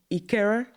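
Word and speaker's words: Ikeja: okay you know so growing up in Ikera. You've pronounced it well.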